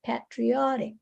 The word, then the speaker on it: patriotic: Another thing that I want you to, patriotic, so that's how you say it, patriotic. The stress is patriotic, patriotic, patriotic.